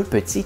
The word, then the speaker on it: petit: Revenons sur notre exemple, un petit éléphant. Pourquoi est-ce qu'on met un T complètement muet à la fin de petit et éléphant?